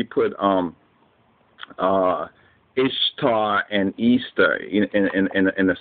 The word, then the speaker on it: Ishtar: of the Google search ishar which is pronounced Easter was a day that